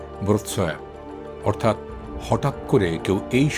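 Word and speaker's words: Wrocław: ইংরেজি উচ্চারণ রকল, কিন্তু পলিশ ভাষায় বলতে হবে ব্রোৎসয়া, অর্থাৎ হঠাৎ করে কেউ এই শহরে এলে তার নাম উচ্চারণ করতে দাঁত ভাঙার উপক্রম হবে।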